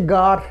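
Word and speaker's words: gare: তেমনি একটা শব্দ রয়েছে গার, গার মানে স্টেশন, জি আর ই গার, গার।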